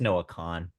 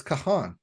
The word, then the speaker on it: Noah Kahan: pronunciation, but it's just Noah Khan. It's Kahan. No, it's just spelled like that. There's 2 A's, so you have to pronounce both A's. Kahan.